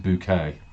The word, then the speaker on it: Bucket: called a mrs bouquet she calls herself mrs bouquet which is spelt b-u-c-k-e-t bucket so it's an over-inflated